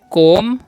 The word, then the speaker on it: comb: ठीक है, आगे देखिए आगे क्या लिखा हुआ, आगे लिखा हुआ COMB, तो इसमें क्या पढ़ेंगे कोम, यहाँ पर B साइलेंट होता है, your कोम your hair, कोम your hair.